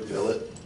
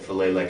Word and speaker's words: fillet: No, well, fillet. Yeah. That's how I say it. I say it, fillet like a steak. Like a, yeah. Like steak. Like a fish fillet.